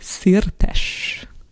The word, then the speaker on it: Szirtes: And one more time, just the pronunciation of your last name, so I get it right. Szirtes.